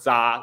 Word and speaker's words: Zha: But because I am actually not a standard Mandarin speaker, like my own dialect, it's just pronounced za. Like pretend the H is not there.